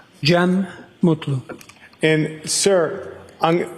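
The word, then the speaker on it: Cem Mutlu: I also spell it with a G. GM. And can you state your name for us, sir? Jee Mutlu.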